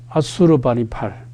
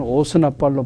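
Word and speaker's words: 아슈르바니팔: 그 다음에 오스나빨이라고 영어 발음 그대로 우리가 발음을 하면 아수르바니팔, 우리 성경 번역에는 오스나빨로 번역했는데 이 왕은 자기가 지식인으로 자처하면서 니느웨의 왕립도서관을 세운 왕입니다.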